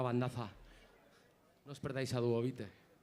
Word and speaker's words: Duobit: No os perdáis a Duovite. Ellos dicen que se llaman Duovite, pero yo pronuncio Duobite.